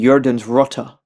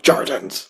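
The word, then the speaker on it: jordens rotter: Because I know, isn't it in Norwegian that you pronounce the J's as like kind of like a Y sound, right? Yeah. Kind of. Uh, yeah, the rats of the earth. Gotcha. Because like in the song, it's pronounced with a hard J. It's like Jordans.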